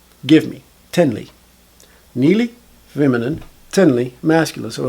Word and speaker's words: תני לי: But it's pronounced Nili. I don't hear the T when the dude pronounces it. It's not like he's saying Tnili.